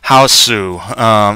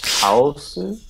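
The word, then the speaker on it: Hausu: It's a Japanese pronunciation of house. It's a Houseu. It's Houseu?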